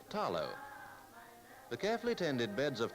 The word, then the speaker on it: talo: Outstanding in the Samoan diet is the taro, pronounced here with the L as talo.